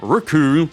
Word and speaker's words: Recoome: got Berta then gar raccoon which rhymes with doom Captain ginu then first